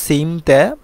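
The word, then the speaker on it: 침대: বিছানা সিম তে বিছানা মিয়ম বাচ্চিমের পরে যদি দ্বিগত থাকে তাহলে এই দ্বিগতটা সাং দিগত হয়ে যাবে তার মানে আমরা বলব সিম তে মানে হচ্ছে বিছানা সিম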